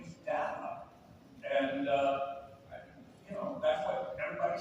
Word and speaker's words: Data: I said, to Gene, it's Roddenberry, is it data or data? And he said, well, there's a new rule, and that's whoever says it first.